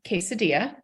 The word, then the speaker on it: quesadilla: we know that the the double L's are pronounced kind of kind of like a soft y but it's been a